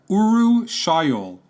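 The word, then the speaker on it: urushiol: that causes the rash and itching is called uru shol that's a fun word to say it's spelled you are you s h i o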